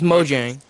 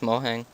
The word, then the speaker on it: Mojang: No, it's Mojang. A Mohang. Depends what language you want to moang. Mohang. It would be like a Mexican Mojang. It's Swedish. I'm pretty sure it's pronounced Mohang.